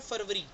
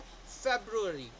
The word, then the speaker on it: February: तो इसको हम बोलते हैं फरवरी, राइट, फरवरी या समथिंग लाइक दैट, ऐसा कुछ हम प्रोनाउंस करते हैं। जबकि इसका प्रॉपर प्रोनाउंसिएशन है फेब्रुअरी, राइट, फेब्रुअरी।